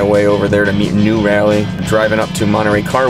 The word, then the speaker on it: Nu Rally: over there to meet new rally driving up to monterey car week not new rally like n-e-w and you that is how it's spelled pretty tired but this